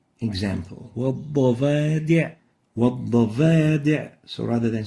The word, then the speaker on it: والضفادع: وَالضَّفَادِعْ وَالضَّفَادِعْ.